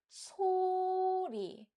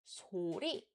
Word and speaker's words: 소리: to know is that if a word that consists of 2 or more syllables starts with 시옷 sound, then we use a high-pitched sound. So, for example, when reading 소리, we read it as 소리, and we don't read it as 소리.